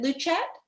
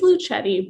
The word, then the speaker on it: Luchette: Do you pronounce it Luchette? Luchette? It's Luchetti, but I've grown accustomed to any kind of pronunciation.